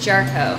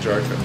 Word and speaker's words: Jarchow: Of course, I said Jarchow. Mm-hmm. And, well, that's a cool way to pronounce it. Yeah. So how do you say that? It's Jarchow. Jarchow. Yeah.